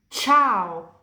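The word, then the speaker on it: ciao: Cena makan malam cao. Halo, Cintura Sabuk. Kalau C diikuti dari A, O, U, dan H pronunciasinya kayak K di bahasa Indonesia, kayak kental dan kucing.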